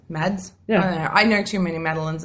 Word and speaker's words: Mads: enough I think it's actually supposed to be pronounced Mass oh mass m mads I know too many